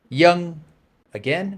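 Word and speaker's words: Vân: not a monolith but it is very common to hear the V pronounced as a y so again that name V A with the pointy hat and N is y again match my tone one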